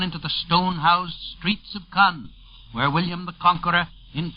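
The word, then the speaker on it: Caen: This second beachhead is 40 miles northwest of Cannes. Cannes, by the way, is spelled C-A-E-N.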